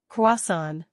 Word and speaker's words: croissant: It's French, so we say croissant. The R is soft and son rhymes with John. Kasan.